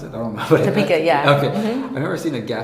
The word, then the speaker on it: Topeka: Is that how you pronounce it? I don't know. Topeka, yeah.